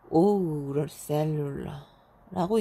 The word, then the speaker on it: Eau Cellulaire: 5셀룰러예요. 5셀룰러. 5셀룰러라고 읽네요.